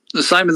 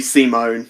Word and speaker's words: Simon: Well, no, not to be that cunt, but because of a weird pronunciation, it's actually Simone.